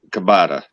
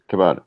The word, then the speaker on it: ciabatta: Ciabatta. Oh. Yeah. I've always heard it pronounced ciabatta. Yeah, I've heard it pronounced that way too.